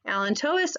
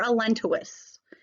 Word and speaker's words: allantois: called the Ellen tOA's there's actually two different ways that you can pronounce this Alan tOA's or a lentes both are okay what does the allantois